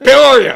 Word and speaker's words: Peoria: from the- How do you pronounce it? Peoria.